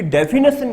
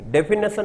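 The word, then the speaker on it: definition: इसकी डेफिनेशन नहीं होता है, डेफिनिशन होता है। NITION होगा, NAT नहीं होगा, NITION होगा।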